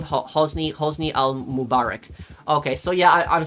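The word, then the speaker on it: Hosni al-Mubarak: Hosny Hosni al- Mubarak.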